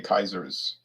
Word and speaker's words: Kaiser: the german emperors okay kaiser's um which is the way the word is pronounced in latin and german kaiser uh in 1907